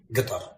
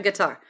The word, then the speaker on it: Qatar: colloquial production it is guitar that's a guitar to me anybody anybody I'm here in guitar guitar with like the emphasis on the on the first one um but yeah so